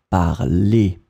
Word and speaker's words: parlez: And then you pronounce it parler. So phonetically, it is exactly the same form as the infinitive, but you need to write it like that. Vous parlez.